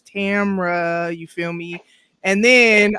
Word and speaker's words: Tamara: you know i'm saying people don't be saying my name right and i need them to hear it the right way is tamra you feel me and